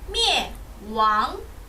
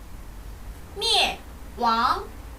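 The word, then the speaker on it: 灭亡: 灭亡灭亡 네, 여기서 뭐, 예 결합을 해서 灭 라고 해주시면 되고요.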